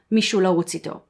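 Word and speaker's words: מישהו לרוץ איתו: English Someone to Run With, or in Hebrew Mishula Wutzito. I did pronounce it correctly, thank you very much.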